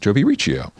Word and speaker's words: Jobi Riccio: We are here in WNXP Sonic Cathedral with Nashville-based artist Jobi Riccio.